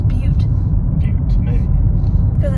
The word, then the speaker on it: Butte: Capital Butt. Okay. I think that's how you pronounce it. I thought you said it was Butte.